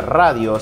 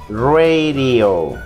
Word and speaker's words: radio: escuchando el radio y la palabra radio se pronuncia radio y la de suena como r y decimos radio radio lo que bien dice